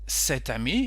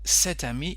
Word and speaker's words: cet ami: Ami starting with a vowel, so you can say cet ami if it's masculine, or cet ami, exactly the same pronunciation if it's feminine.